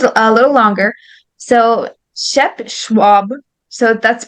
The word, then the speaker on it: Schwab: it like schnaps schnaps so there's there's names um in that are um spelled like this in the west and it's um yeah it's just is sound like she so Shep Schwab shopped